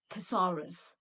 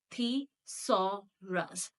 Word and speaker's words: thesaurus: So I assume that many of us also face difficulty in pronouncing this word. And this word goes like, it's very easy. It is thesaurus. Thesaurus.